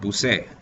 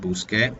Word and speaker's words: busque: So we'd use e, but that would be pronounced busé. So we have to make the change, right? And how do we make it sound like busque? Well, we add the QU.